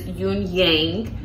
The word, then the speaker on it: Yuanyang: The name of this is Yuanyang. I did Google that pronunciation, so that is how you properly pronounce it.